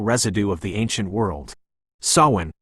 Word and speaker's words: Samhain: Sawin pronounced so in like you're planting a spiritual seed